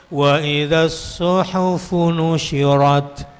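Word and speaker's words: وإذا الصحف نشرت: nusyirat wa idzasuhufu nusyirat kalau yang malas ngajinya kelihatan bacanya begini waufusir syin jadi apa Shad jadi Sin ha jadi ha Fanya juga tidak desis waiduhufu waidasuhufu nusyirat yang betul wa idzasuhufu nusyiratir dan apabila catatan-catatan amal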